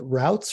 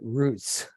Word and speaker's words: route: do other people say is it routes or is it roots my wife's always making fun of me because I I don't know how to pronounce English words I guess it's throughout it route I'm a root guy but I'm from Pennsylvania